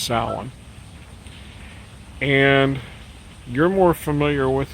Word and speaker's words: Samhain: year this is samhain everybody it looks like sam hayne but it's pronounced solon and you're more familiar with it uh with